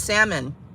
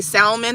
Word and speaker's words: salmon: you making with that salmon do you say salmon or salmon do you pronounce the L I don't trust people